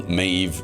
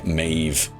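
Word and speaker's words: Méabh: as they do mine so mave being an Irish name it's spelled m a e BH um so BH or an MH in Ireland is like a V so uh yeah mave is m a e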